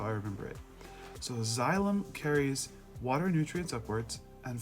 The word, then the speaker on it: xylem: plant up into its leaves, that is called xylem. It's spelled X-Y-L-E-M, xylem.